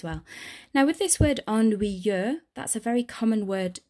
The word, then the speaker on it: ennuyeux: Now with this word ennuyeux, that's a very common word to struggle to pronounce in French.